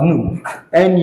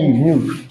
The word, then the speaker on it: nu: And from here, symbolically, kinematic viscosity, this is the unit, this is the symbol, this is called nu, it is pronounced as nu, nu, equals to your dynamic viscosity.